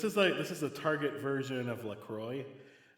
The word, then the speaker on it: LaCroix: I don't know if you've ever had them before, but this is a Target version of LaCroix. It's technically pronounced LaCroix, but I'm not snobby like that.